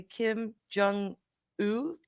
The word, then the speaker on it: Kim Jong Un: Kim Jong Un.